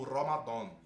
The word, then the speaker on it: Ramadan: A pronúncia correta em árabe clássico e em sentido religioso é Ramadã ou Ramadan. Nessas duas pronúncias, o dan é grave, pesado.